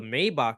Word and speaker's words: Maybach: I start running up the block to where the Maybach is, Was Papa? opens the I love door. how you're pronouncing it the right way too.